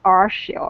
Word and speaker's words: Archield: I know I pronounce it as if there's an S in the place of a C, but it's Archield, right?